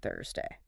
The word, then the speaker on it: Thursday: Tuesday starts with a simple tet sound. Your tongue just taps the roof of your mouth. Easy. But Thursday... Thursday starts with the sound, the hey.